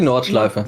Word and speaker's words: Nordschleife: Nordschleife? Is that how you say it, Darius? Yeah, the Nordschleife. Nordschleife. It's already good enough. I always try to, like, say the words correctly, you know? Yeah, it was correct.